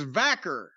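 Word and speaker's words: Stephanie Vaquer: I said Stephanie Vacour, if that is indeed how you pronounce her name. I think it's Vacker.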